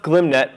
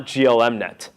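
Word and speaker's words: glmnet: they do so gloom net and it is pronounced gloom net not GLM net I used to call GLM next to seem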